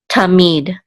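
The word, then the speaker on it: תָּמִיד: It's going to be on the last syllable, so this is mead, tamid, and this means continually or eternally.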